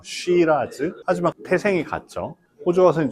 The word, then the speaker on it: Shiraz: 호주에서는 스펠링이 다르고 발음도 달라요. 쉬라즈.